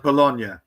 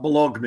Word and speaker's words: Bologna: I think it's I think it's pronounced Bologna. Not Bologni.